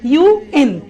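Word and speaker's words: UN: লিখেছি, অর্গানাইজেশনের নাম লিখেছি, ইউএন, United Nations, BBC, সিএনএন, সিআইএ, আইএমএফ। সবাই খেয়াল করি, আমি এই অর্গানাইজেশনের নামগুলো যখন বলছি তখন কিন্তু আমি ইউএন আন বলছি না, বলছি ইউএন। সিআইএ কে কি আমি সিয়া বলছি না, বলছি কি সিআইএ।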